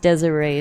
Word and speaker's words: Desiree: Oh, it's pronounced Desiree, sorry.